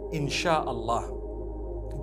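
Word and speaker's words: Insya Allah: If you look at, the Malay language, they write INSHAALLAH, the S-Y-A. They pronounce the S-Y the way we pronounce S-H. So they can write it how they want, for as long as when people read it, they read it INSHAALLAH.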